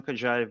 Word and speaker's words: Kalankhodzhaev: Yeah, it's pronounced Kenjive, but I know it's very complicated, so no no worries.